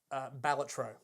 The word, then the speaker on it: Balatro: And he said the way the developer pronounced the game is Balatro. Balatro. They say it's Balatro.